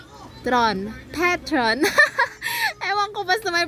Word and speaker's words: Petron: Petron peton petron ewan ko basta may pronunciation diyan hindi siya patron petron ganon bahala na kayo